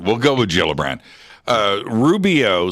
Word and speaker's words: Gillibrand: It's with, I think, a soft G. Okay, so it's Gillibrand. We'll go with Gillibrand.